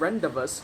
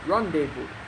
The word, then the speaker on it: Rendezvous: Now, I'm passing through the narrow corridor of Rendezvous Hotel, a conserved building. Oh, I mean Rendezvous. That's the correct pronunciation.